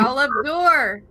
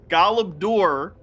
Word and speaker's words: Galabdur: Galabdor. Galabdur. Where they all You were. have to roll your R a bit.